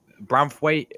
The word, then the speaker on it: Branthwaite: I thought that Branthwaite is actually how you say his name.